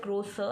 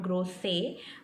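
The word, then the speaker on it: Größe: E is pronounced just grow so and not grow say you have to stress on the second last letter so these are just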